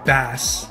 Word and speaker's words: Bass: Light is horrible, Bass is horrible, or sorry, Bass, as we found out was the canonical pronunciation in this game.